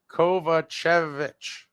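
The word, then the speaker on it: Kovačević: So both of the season Kovachevich are pronounced Kovachvich not leaving sober ace.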